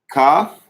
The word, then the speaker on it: Kaf: Kaf. Pronounced with a K sound. And as you'll notice again, you see another dagesh, a dot in the middle, which will give it the K sound pronunciation, ka. Without the dagesh, all right? Without it, you get haf, another guttural sound like hit, haf, right? Like another CH type of sound.